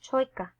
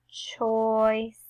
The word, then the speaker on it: choice: CH says ch. OI says oi. And a C next to an E says s. It's the soft C. So it's not choika or chaka. It's choice, choice.